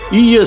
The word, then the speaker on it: Ille: Il faut prononcer Ille. Ille sur tête.